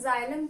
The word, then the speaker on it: xylem: ये आप लोगों की स्पेलिंग XYLEM होती है, बट इसको हम लोग जाइलम प्रोनाउंस करते हैं।